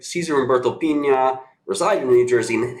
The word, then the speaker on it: Pina: So Cesar Humberto Pina, I'm sure it's pronounced Pina, aka Flipping NJ.